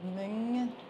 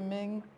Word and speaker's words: Mym: This is Mym Tuma, and she is was a friend of